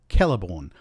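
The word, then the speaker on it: Celeborn: one the letter C the letter c is always pronounced c as if it were written with a K it's not pronounced s or CH in any Elish words and so we have things like calborn or kirth similarly the letter G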